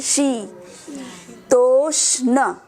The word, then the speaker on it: शीतोष्ण: आई के ऊपर मात्रा आ रहा है इसलिए लंबा करेंगे शी। तोष्ण।